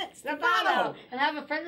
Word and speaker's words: Stefano: The other and fastest on the other syllable. Stefano. Stefano.